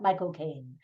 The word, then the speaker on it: Michael Caine: I love his name because if you want to say it correctly with a British accent, you basically say my, and then the word cocaine, like the drug, and you put it together really fast, Michael Caine.